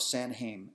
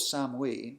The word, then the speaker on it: Samhain: Samhain the vigil of San Haim is what was called Osama we as they excuse me as they probably pronounced it back then the vigil of Sam we was celebrated on a